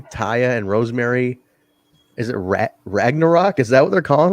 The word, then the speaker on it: Ragnarok: It's like Thor. It's Ragnarok. Ragnarok.